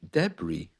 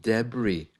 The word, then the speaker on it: debris: way okay uh there's also the silent s in words like debris for example after that terrible earthquake in Morocco there's a lot of debris lying around Island another